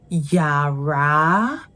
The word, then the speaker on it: yàrá: It is pronounced Yara, do mi, Yara, Yara. And that's because there's the do tonal mark on the first syllable, Ya, and mi sound on the second syllable, mi, ra, Yara.